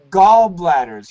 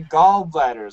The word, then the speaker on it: gallbladders: you eat bears galls don't say like that gallbladders you have to say gallbladders otherwise it sounds very strange goldblade yeah thanks that